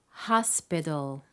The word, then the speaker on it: hospital: look at these words Hospital prescription personnel the stress in the word may be on the first second third syllable and so on the stress falls on the first syllable in hospital the second syllable in